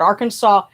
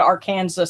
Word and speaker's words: Arkansas: it's all one word arkansas a-r-k-a-n-s-a-s pagan pride dot org yes yes arkansas has a silent s at the end yes it's a it's